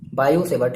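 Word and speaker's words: Biot–Savart: बाय using बायो सेवर्ट लॉ, इसमें टी आपका silent होता है। बाय using बायो सेवर्ट लॉ, भाई क्या होता है, आपने क्या पढ़ा था, आपने यही तो पढ़ा था।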